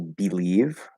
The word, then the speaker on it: believe: the first sound, like say, for example, believe, that's another example, starts with a B sound, but it has that E in that first syllable and it's unstressed. Many words that have E in the first syllable, that's not stressed. The fully enunciated way to pronounce it would be E, okay? But they will commonly reduce to and they can also commonly reduce to I. So it actually doesn't matter. Whichever one you use is fine as long